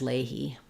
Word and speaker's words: Leahy: um and for um for this name yes I think we say that as Leahy um Leahy in U.S English although the woman's name Leah we say that as Leah but this is I think Leahy doesn't really match the spelling very well um in terms of how we pronounce those names um great